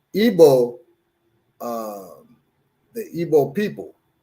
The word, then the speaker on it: Igbo: people the are they called you say they pronounce it Igbo okay I was thinking about elbow now Airbus